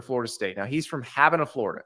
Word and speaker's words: Havana: to transfer to Florida State now he's from having a Florida spelled like Savannah Cuba but it's pronounced having a so he did it twice I have no